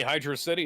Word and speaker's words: Hydrocity: go I know it's I know people pronounce it as hydrocity I don't care well apparently Hydra city is correct of course it is hydrosity sounds dumb I now need to